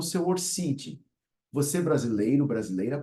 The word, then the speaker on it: ORCID: já criou o seu orcid você brasileiro brasileira pode pronunciar orcid Sem problema embora signifique orc ID que é uma identidade internacional para os intelectuais certo